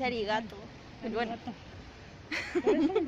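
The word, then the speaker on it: ありがとう: Ese es en japonés y no se dice saragato. Entonces se dice arigato.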